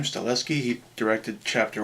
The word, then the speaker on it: Stahelski: I guess you pronounce his name, Stahelski.